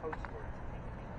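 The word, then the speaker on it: Cotesworth: His name was Charles Coatsworth. So even though it's spelled differently, because it's COTE, it's the same phonetic sound.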